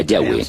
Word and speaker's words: Yahweh: De acuerdo con una de las explicaciones, Abraham conocía a Dios por su nombre más íntimo y personal, que normalmente se pronuncia Yahweh, Yahvé.